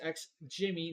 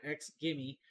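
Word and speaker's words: XGIMI: that it has actually produced X Jimmy not X gimme I I just called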